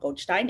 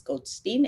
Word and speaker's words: Goldstein: I've even been corrected by a flight attendant telling me that that's not how you pronounce my last name. It's not Goldstein, it's Goldstein, and that's the way it is.